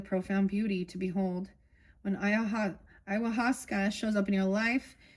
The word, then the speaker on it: ayahuasca: Ayahuasca, there we go.